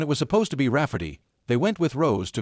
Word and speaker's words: Rafferty: name my niece Rafferty, pronounced Rafferty and not at all like Ray Farty.